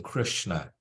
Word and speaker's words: Krishna: Where you see an S, you see a little accent above the S, you pronounce that as sh, like we do in Krishna, right?